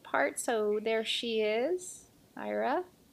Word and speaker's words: Aira: so there she is IRA and then is how you pronounce her name I checked Lego actually